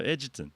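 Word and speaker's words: Egerton: Edgutton. Edgutton. That just sounds common. No, Edgitton.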